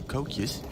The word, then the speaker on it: koekje: And some Dutch Easter cookies, or koekjes, as they call them. Koekjes? Okay, all right. Koekjes. Is that how they pronounce it?